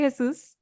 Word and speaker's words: Jesús: And I appreciate you pronouncing my name like the way In it should be Spanish. pronounced. Yeah, I don't even pronounce it that way, but I mean, I I can, but I got you. just go the American way.